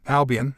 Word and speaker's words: Albion: Albion, and that's how you say it.